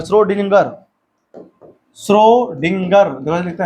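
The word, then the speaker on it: Schrödinger: गए श्रोडिंगर नाम है श्रोडिंगर श्रोडिंगर देख लिखता है श्रोडिंगर का तरंग समीकरण उसी ने दिया था इक्वेशन दिया उसने इसका नाम की स्पेलिंग बड़ी खतरनाक है एस सी एच श्रोडिंगर ठीक है ना नाम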